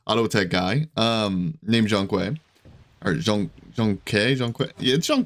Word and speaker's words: Zhong Kui: second ago and he he pronounces it Jean qu Jean qu that's how he says it in game okay so